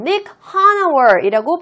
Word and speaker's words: Nick Hanauer: 자, 이 사람의 이름은요, Nick Hanauer이라고 발음합니다.